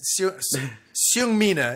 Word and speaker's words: Seung Mina: Yes, Seung Mina is how I would pronounce it.